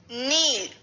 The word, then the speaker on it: kneel: Kneel. K-N-E-E-L. Kneel. In kneel, the K is silent, but we will still write K.